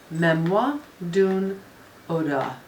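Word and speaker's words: Mémoire d'une Odeur: while memoir dude mmm memoir dune Oda so it's like odor but without the hard eat remember ahh dude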